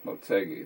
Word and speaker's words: Motegi: also a very easy race yeah motegi that's how you pronounce it by the way i forgot to